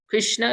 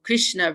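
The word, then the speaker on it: कृष्णा: names like that too like Krishna Krishna if you with a long a on the end that is a female name like droppity she's also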